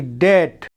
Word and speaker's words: debt: जैसे डेट, डेट मतलब कर्ज होता है ना, तो उसकी स्पेलिंग क्या होती है? DEBT, डेट। डाउट, डाउट में भी हमने DOUBT स्पेलिंग देखा, लेकिन डाउट पढ़ते हैं।